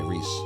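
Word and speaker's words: Rhys: protagonists um melpo says you think rise is pronounced like ree oh Rees okay Reese Reese got it what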